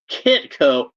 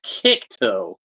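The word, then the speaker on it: Kickto: holog grao and zapman I keep wan to say Kito like rhymes with dico but it's it's kick toe so we'll have these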